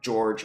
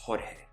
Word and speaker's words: Jorge: And just know I'm going to pronounce it in Spanish because I doubt it was going to be George Alfaro. It's Jorge.